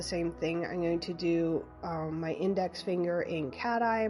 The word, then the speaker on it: Dom: And I'm pretty sure it's pronounced Dom. I think it's the maker's last name, not dam. Like I was thinking like a beaver dam or like a man-made dam.